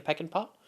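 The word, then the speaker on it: Peckinpah: P C I N P A H. Sam Peek and Pop, I guess is how you pronounce that.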